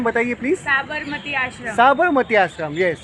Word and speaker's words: साबरमती आश्रम: लेकिन वो आश्रम बाद में शिफ्ट हो गया, जो कौन सा वो प्रोनाउंसिएशन बताइए प्लीज़? साबरमती आश्रम.